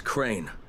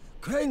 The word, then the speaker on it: Crane: no my name is crane crane crane rhymes with train and brain and sane and crane and rain